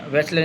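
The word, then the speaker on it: Wechsler: तो इन्होंने वैसलर इनके नाम का नाम से डब्ल्यू से वेसलर नाम बना है इनका।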